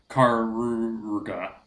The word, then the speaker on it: Karuga: of apostrophes, so it's Karuga. Oh, good gracious. So I'm just going to call it Tamatoa. it's it's pronounced like the old timey like sound effect.